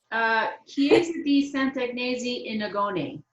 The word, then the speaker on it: Chiesa di Sant'Agnese in Agone: but it was I think, how do you pronounce it, Sharon? Okay, let's see. Chiesa di Sant'Agnese in Agone.